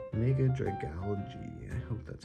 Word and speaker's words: Dragalge: Dragal- Dragalge? There we go. Mega Dragalge. That makes more sense, right? It's like algae. Mega Dragalge.